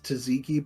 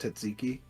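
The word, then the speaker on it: tzatziki: never say that yeah well everybody call it's taziki but it's pronounced tziki but the best they have the best tsiki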